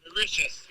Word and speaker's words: Mauritius: I'm pretty sure it's pronounced Mauritius, not Mauritius.